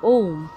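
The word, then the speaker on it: ओम: প্রথমে হবে ওম, ও এর শুদ্ধ সংস্কৃত উচ্চারণ ওম। তারপর দেখুন সরস্বতী, অর্থাৎ এখানে দন্তস্বর উচ্চারণটা সো এর মতো, অর্থাৎ জিহ্বাটা দাঁতে লাগিয়ে উচ্চারণ করতে হবে।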